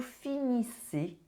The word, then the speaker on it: finissez: And this one, the ending, you do not pronounce the Z, it is a E sound.